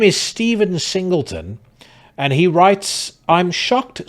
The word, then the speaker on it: Singleton: Ironically, his surname rhymes with simpleton. That stood out amongst the rest of the pack. His name is Stephen Singleton, and he writes, "I'm